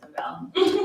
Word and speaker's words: Novell: out of all my options, it doesn't stand for anything like, it actually just means novel, you know, but it's like pronounced Novell.